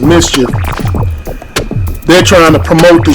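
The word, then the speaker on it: MSCHF: and they saying that the company called ms chf but they pronounced it mischief they're trying to promote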